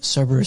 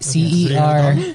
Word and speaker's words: Cerberus: They're called Cerberus Squad. Cerberus squad. Like, how do you spell? CERBERUS. Like the multi-headed dog. CERBERUS.